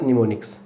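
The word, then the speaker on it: mnemonic: इसी तरह से यहीं से एक वर्ड निकलता हमारा निमोनिक्स। निमोनिक, जो एम होता है ना बेटे साइलेंट होता है।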